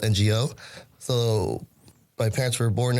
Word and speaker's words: Ngo: And then, so the last name should be, the Chinese spelling is Ng or pronounced Ing. So, but coming from Vietnam, the Vietnamese way to pronounce it or spell it is Ngo.